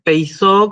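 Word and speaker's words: πειθώ: Con el acento en el diptongo ei, y otra cosa es peizó con el acento en la omega.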